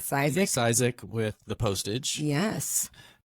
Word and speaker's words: Cisek: Cisek, is that pronouncing Yep, that right? Cisek.